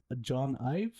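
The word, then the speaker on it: Jony Ive: They basically had a deal with John IV. That's how it name's pronounced.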